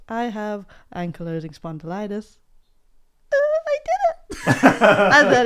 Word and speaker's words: ankylosing spondylitis: Ankylosing spondylosis was what I kept saying. So you just had the vowels the wrong way around in the wrong word. It's ankylosing spondylitis.